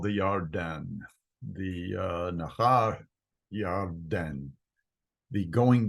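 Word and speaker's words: ירדן: And Lot lifted his eyes and saw the plain of Yarden, the Jordan River. The word, it's pronounced Yarden in Hebrew because there's no J sound.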